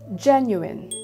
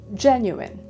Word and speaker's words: genuine: to say it is genuine genuine we must always notice which syllable is being stressed so for this word it's the first one which is gen genuine number 12.